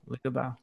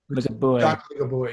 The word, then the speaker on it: Ligabue: Can you help me with the pronunciation? Luciano Ligabue? Ligabue. Ligabue, yeah.